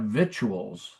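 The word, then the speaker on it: victuals: But you also have vituals, which is the food of the victor, which is really weird because it's it's spelled the same, but it's pronounced so differently that you would never see the connection.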